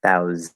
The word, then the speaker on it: thousand: it is not and it is not thousand right with the fourth vowel it's not thousand for the fifth vowel um it's the second vowel okay so spelled with an a but it's the e sound thousand stress that one thousand thousand um and